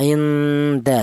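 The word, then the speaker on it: عند: faala yaitu bunyi yang dihasilkan adalah vokalnya adalah nn a inda seperti itu.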